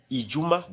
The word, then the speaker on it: Ijumaa: You have to say Juma Ijuma that is Friday the first week according to Arabic calendar Ijuma.